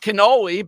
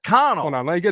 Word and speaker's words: Connell: the professor is William Connell how's that guy the chair of Italian Studies at Seton Hall what's his last name Connell spell it c-o-n-n-e-l-l not cannoli but Connor I need a Professor